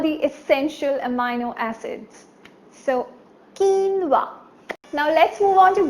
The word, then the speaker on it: quinoa: so it's called quinoa right it's not Canova it's quinoa and its really nutritious